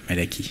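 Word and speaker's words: Malachie: dans Malaki chapitre 2 voilà Malaki je l'ai bien prononcé cette fois-ci Malaki chapitre 2 là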